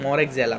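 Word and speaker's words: Moraxella: इसका एग्जैक्ट जो प्रोनाउंसिएशन है वो है मोरेक्जेला, पर मैं इसको मोक्सरेला बोलता हूँ, पता नहीं क्यों, मेरे को भी आज तक पता नहीं लगा, ठीक है। बस मैं बोलता हूँ, ठीक है। बस मोक्सरेला बोलने में मेरे को मतलब मज़ा आता है क्या, पर इसका एग्जैक्ट प्रोनाउंसिएशन है मोरेक्जेला, ठीक है।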